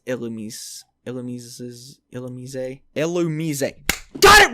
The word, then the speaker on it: Illumise: oh god how do i pronounce illumise illumises illamise illumizay got it right how do i pronounce my